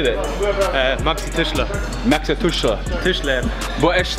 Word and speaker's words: Maxi Tischler: It's MAXITISCHLER_23. So how do you say that? Maxi Tischler.